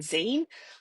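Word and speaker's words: zine: Um, but then I heard Claire talking about them and she pronounces them Zen. I googled it. It is the double e sound, so it's definitely called a zen.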